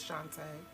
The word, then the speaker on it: Shantae: like 5 times that your name is not Shanta, it is Shantae.